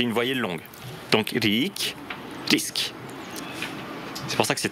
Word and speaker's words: risk: Par exemple, une voyelle longue se retrouve dans le mot riche. Rik. En rik person. Yeah. Et une voyelle courte se retrouve dans le mot risk. Jag tar en risk.